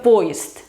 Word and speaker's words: поезд: Luego, si se juntan 2 sonoras al final de la palabra, las 2 se pronuncian sordas, como por ejemplo poezd, que es tren. Se escribe poyezd, pero se pronuncia poezd, poezd, como st.